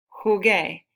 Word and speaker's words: jugué: Jugué, G-U-E con acento.